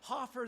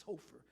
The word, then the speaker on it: Hofer: People mispronounce our name. It's always Hoffer this, Hoffer that, Phil Hoffer. Yeah, and everybody knows it's Hofer.